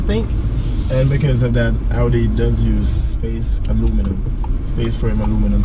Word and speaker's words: Audi: So, and is it pronounced Audi or Audi? I get corrected all the time. I didn't think it mattered. Yeah, it matters. It's pronounced Audi. Audi? Okay. Okay, so I was right. So all of you that correct me, I was right. You were wrong.